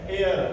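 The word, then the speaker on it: heir: ये हेयर नहीं होता है। तो देखिए एच ओ यू आर आवर यानी घंटे एच ई आई आर ये होता है एयर उत्तराधिकारी।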